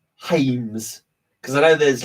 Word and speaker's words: Jaime: And to my would be Anglican spelling, my Anglican pronunciation, or my English pronunciation, I always think it's James Reyes, right? But it's Jaime, like Jesus.